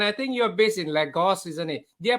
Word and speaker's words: Lagos: And I think you're based in Lagos, isn't it? Did I pronounce that right?